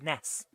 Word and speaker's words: NES: any S should be pronounced Ness, which is why the character in I think it's the Mother series, but it might be something else, is called Ness.